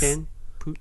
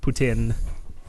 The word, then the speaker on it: poutine: word delegate to Alex Putin Putin Putin yes okay if you're if you're anglophone Putin if you're frankophone put in yeah you know it's